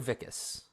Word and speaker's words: Vikas: So it's Vikas, actually. Vikas. See, I was like, I'm either going to get it Vikas, or I was like, I could be pronouncing it wrong and be like Vikas. But I was like, how should I do it? So Vikas. The best way to remember it is the Wizard of Oz.